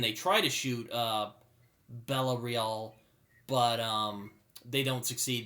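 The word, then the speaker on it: Bella Reál: been elected her name's bella real i think is how you pronounce it spelled like real but it's french so nashton's followers show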